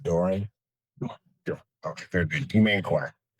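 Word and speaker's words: Dora: Spelling on the last name is D O R A and it's pronounced Dory.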